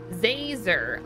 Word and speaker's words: Zazer: doing it on purpose it's professor zazer like laser with a z how hard is that